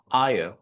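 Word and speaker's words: hour: आयर right. यहां पर जो एच होता है, यह क्या होता है? साइलेंट होता है।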